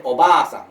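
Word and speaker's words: おばあさん: Hiragana ini kalau kata yang misalnya di depannya diulang, misalnya kata oba-sang, itu berarti oba kan OBA tambahin A lagi baru SAN. Nah, jadi oba-sang. Jadi diucapkan panjang.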